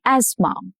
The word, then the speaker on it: asthma: She carries an inhaler for asthma. Asthma. The H is silent in this case.